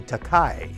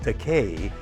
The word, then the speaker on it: Takei: they keep calling me takai and i correct them by saying it's actually pronounced decay but i don't object to the mispronunciation takai